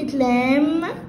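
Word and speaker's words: lamb: زي مثلا خد الكلمتين دول، كلمة لام يعني خروف صغير اللي هو الحمل، وكلمة لمب يعني لمبة. فهلاقي ان البي هنا اتنطقت، انما البي هنا ايه حبايبي؟ سايلنت.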